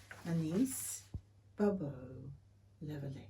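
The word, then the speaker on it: Anaïs Barbeau-Lavalette: Suzanne by Anais Barbeau-Lavalette. I've just butchered that, I'm sure. Absolutely. How would you say it? Anais Barbeau-Lavalette.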